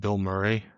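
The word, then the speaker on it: Bilmuri: Uh, the big one that we have talked about is there's a band called Bill Murray. Uh, it's spelled b i l m u r i and they did like a weird like country and metal album.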